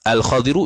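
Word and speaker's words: الخضر: lalai ia man al-khadir bermula khadir itu tu cara baca tu cara baca yang sahih ni al-khadiru ialah bifathi ay kamakru'un bawah ta'ala satu masuk khabar bagi khadir maqru'un dibacakan dia kan khadir bi fathil kha'i dengan difathahkan akan kha wal mu'jamati yang ada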